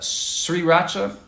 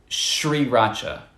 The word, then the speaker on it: sriracha: Técnicamente, muchas personas no hacen eso, pero técnicamente SR se debería pronunciar como SH en inglés, pero muchos nativos ni siquiera saben eso, entonces lo pronuncian como sriracha o sriracha, pero realmente, si tengo entendido, en India o en el país en que tienen esa salsa originalmente, dirían como sriracha con SH.